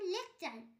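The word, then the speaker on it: lecture: শব্দের টি থাকলে টি এর পর ইউ থাকলে টি এর উচ্চারণ চ হয়, যেমন লেকচার, LEC লেক, TURE চার লেকচার। এখানে টি এর পর ইউ আছে তাই টি এর উচ্চারণ চ হবে।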